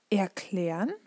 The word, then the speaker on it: erklären: So, and then the same goes with prefixes, R, zer, fer, because they're kind of, you have the feeling that kind of a part of the word ends after the prefix, and this is why you don't pronounce it.